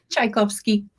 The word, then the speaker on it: Tchaikowski: So today I have the pleasure of, and she's going to help me pronounce her last name. How do It's I say your last name? Tchaikovsky.